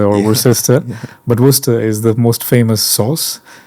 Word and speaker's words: Worcester: Uh normally people pronounce it Worchester or Worcester but worester is the most famous sauce uh that is